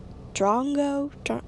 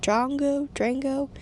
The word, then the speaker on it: Drongo: Now, this episode is called, I think it's called The Call of the Drongo. I hope I'm pronouncing that right.